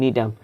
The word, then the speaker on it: Gnetum: নগ্নবীজী উদ্ভিদের যে উন্নততর সংস্করণ নিটাম, প্লিজ মনে রাখো যে নিটাম, GNETUM, নিটাম, এটাকে বল, যদিও জি আছে বাট এটা উচ্চারণ করে না, এটাকে বলা হয় নিটাম।